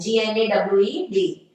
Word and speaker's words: gnawed: G is silent. Gnawed.